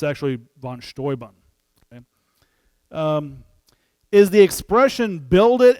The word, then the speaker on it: Steuben: of uh general von stoybun von stoybun yeah in english you might pronounce it uh steuben but in german general one he during